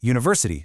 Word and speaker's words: university: On the flip side, university starts with a vowel U, but it makes a hard consonant U sound.